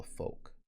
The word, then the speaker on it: folk: Another one with those silent letters. This is how you would spell folk.